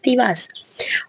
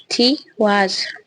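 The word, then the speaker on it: Tiwaz: तो आपके जो रून आपने लोगों ने चूज किया है उसका नाम है तिवास, ऑल्सो नोन एज तैवास, त्यार, तिवार। प्रोनाउंसिएशन इज थी वाज।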